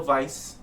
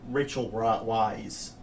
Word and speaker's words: Weisz: It had Rachel Weisz, which I always thought her... I thought her name was Rachel Wise. It's Weisz. That's how they say it in Oscar coverage.